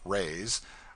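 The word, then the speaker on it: réis: lady hails from the portuguese pennies or reys pronounced rays are prodigious it takes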